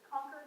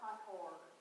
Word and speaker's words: Concord: which is Concord, not Concord. You'll hear mispronounced all the time.